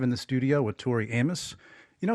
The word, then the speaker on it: Amos: Tori Amos you know your last name is four letters but people always mispronounce it don't they Amos Tori Amos but it's Tori Amos it's Tori Amos yeah it's not a mosquito bit me so when you think